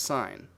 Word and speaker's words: sin: to SI n but notice that this is still pronounced sine the most important property